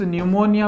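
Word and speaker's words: pneumonia: मतलब निमोनिया कैसे तो इस निमोनिया में पी क्या रहता है साइलेंट रहता है तीसरी सी का मतलब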